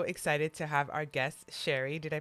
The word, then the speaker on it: Shari: i am so excited to have our guest sherry did i pronounce it right yep hi welcome hey how